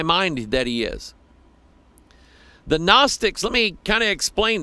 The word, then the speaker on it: Gnostics: And the Gnostics, with a G at the beginning, but the G is silent, or you can say